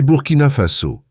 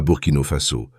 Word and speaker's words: Burkina Faso: « C'est Burkina Faso, pas Burkino Faso, comme vous l'avez prononcé », a corrigé Traoré avec un léger sourire.